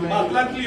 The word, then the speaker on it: Matlatli: Todas las palabras son siempre llanas. Matlatli 11.